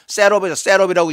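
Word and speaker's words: seraph: 그 다음에 스랍이라고 그랬는데 한글 성경에는 스랍이라고 그랬는데 영어에는요 셋업이라고 이 발음을 해요.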